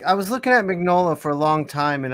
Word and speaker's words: Mignola: or mignola yeah isn't it isn't a g like silent i think i i don't know uh you know him i don't know him maybe i've always been vanilla right yeah it is it is silent it's mignola yeah yeah okay just